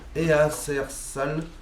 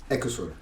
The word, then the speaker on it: Eacersall: Easersal. Non. Dis-le-moi. Ekesol. Quoi? Ouais. Parce que tu es franco-britannique, c'est ça? Ouais. D'accord. Alors ça, toi... ça s'écrit pas comme ça se prononce.